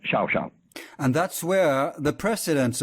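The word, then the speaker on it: Llao Llao: In Argentine Spanish, it's Xiao Xiao.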